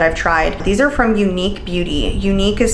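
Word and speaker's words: Eunique: These are from Unique Beauty. Unique is spelled E-U-N-I-Q-U-E.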